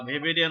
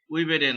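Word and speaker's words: Weberian: ভি এর মত হয় জার্মানিতে কি হয় ডব্লিউ এর যে উচ্চারণ সেটা ভি এর মত হয় সেজন্য জার্মানিরা যারা জার্মান দেশের লোকরা এটাকে বলা হয় ভেবে বা ভেবেরিয়ান অস্থিমালা আর আমরা বলি উইবেরিয়ান অসিকল তার মানে দুইটাই সঠিক ঠিক আছে যদি ভেভবেরিয়ানিক যদি বলো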